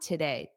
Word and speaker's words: today: Make sure you get that syllable stress on today. Da-da, today. Da-da, today. Today.